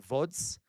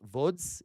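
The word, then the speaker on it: Łódź: There was a big pedto ghetto in Vods. L O DZ in Polish. VODs. You pronounce L's as V's in Polish.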